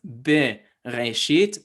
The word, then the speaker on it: Bereshit: So it is supposed to be pronounced bereshit, but this is the difference